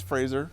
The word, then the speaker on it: Fraser: four years so it's it's Fraser like the thing you stand close to to get a close shave okay we had to